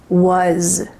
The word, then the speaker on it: was: Instead, it was, and this word has a lovely Z sound at the end. It was.